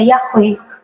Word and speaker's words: Yahweh: Kalau mereka tidak tahu y itu bacanya Yahwe, itu lucu, Bapak, Ibu.